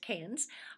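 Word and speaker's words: Cairns: We stayed at the Canes, that's C A I R Ns, but pronounced Canes.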